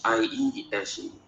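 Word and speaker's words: Iesu: in some African language, they pronounce it Yesu, like Yesu, and in my language, it's Iese.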